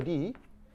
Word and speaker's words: 리: 리시예요, 리. 원래 이시 없어요. 원래 리시인데 그걸 일본 애들이 리성계를 이성계라고 발음하라고 억지로 시켜가지고 우리가 지금 이성계라고 발음을 하는 거예요.